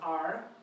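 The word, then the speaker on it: 尔: And it's the arm, as you said, so that's why it's pronounced R.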